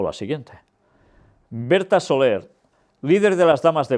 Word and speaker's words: Soler: Por su parte, y ahora lo diré como se pronuncia este nombre en catalán, es Soler, porque es un apellido catalán, aunque yo voy a decir Soler, porque seguramente quizás ellos